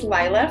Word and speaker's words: Leila: and that's partly why my name is spelled Leila but pronounced Lila both my parents both